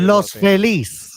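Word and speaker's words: Los Feliz: How do you pronounce that uh that area? Loselis.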